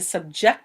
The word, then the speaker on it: subject: verb such as to subject someone to something notice the difference in pronunciation it's spelled the same and has a very similar meaning but here the emphasis is on the second syllable it means to put